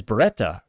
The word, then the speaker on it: Beretta: which is astronomically impressive, is Beretta or Beretta, if you mispronounce it in Italian, like I like to try to say it.